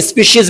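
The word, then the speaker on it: species: आप देख सकते हैं स्पीशीज में सी आई ई के बाद एस आया है इसीलिए यहां पर इसका उच्चारण क्या है श है स्पीशीज अब यहां देख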